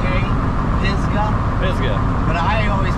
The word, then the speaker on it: Pisgah: the Pisa National Forest it's pronounced like it's spelled p i z g a pisga pisga but I always